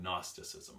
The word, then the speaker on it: Gnosticism: of your potent Gnosticism that's what the G it's got silent G good Gnosticism okay if you want